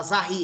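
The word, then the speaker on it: Zahl: porque Z vem da palavra alemã Zahi, que significa número. Soletre ela. Z... A H I. Fala Zahi, é isso? A pronúncia?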